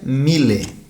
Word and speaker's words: mille: não jantei no jantar o número mil se pronuncia miller e segundo a nota